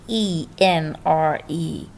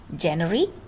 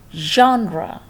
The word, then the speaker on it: genre: is the word g g-e-n-r-e how would you pronounce it january january or junior no not at all it's a french word and it will be pronounced like genre how genre said genre